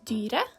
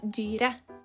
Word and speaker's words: dyret: A particular animal becomes dyret, the animal. You add et at the end of the word, but you pronounce it like e. Don't ask me why, just go with it.